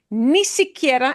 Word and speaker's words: ni siquiera: Ni siquiera, and it'll be said ni siquiera, and it's going to sound like one word when people say it.